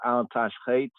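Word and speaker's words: אל תשחת: See the word Al-Tashchet, they spell it kind of strangely, but Al-Tashchet, this word right here. This is a key right here in the superscription. Pronounced Hebraically properly, Al-Tashchet, Tashchet, Al-Tashchet, Al-Tashchet, Al-Tashchet.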